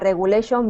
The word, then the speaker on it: regulation: the word regulation okay try not to roll your R regulation try not to roll